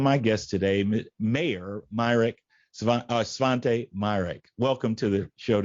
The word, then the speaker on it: Svante: It is a Swedish name, and I am in a Facebook group with a bunch of other people with the name Svante, or they pronounce it Svanta.